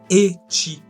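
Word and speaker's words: ecchi: contre tu feras gaffe ça se prononce etchi ouais tu dit fan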